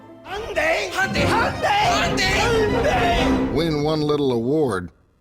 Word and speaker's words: Hyundai: It's Hyundai, like Sunday. Yeah, like literally no native English speaker would believe Hyundai actually rhymes with Sunday with the way it's spelt.